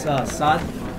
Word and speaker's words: Saad: my name is Saad. How do you spell it?